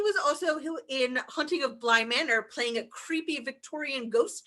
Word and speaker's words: Bly Manor: Whoa, that would have made Blythe Manor much better for me, but that's. You said it wrong too. It's Bly Manor.